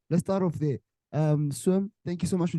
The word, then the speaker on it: SWXM: is it swim swim it's swim the x is uh silent yeah the silent thank